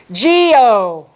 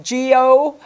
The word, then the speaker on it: guyot: Geo. Remember? Looks like guyot, but it's pronounced G-O.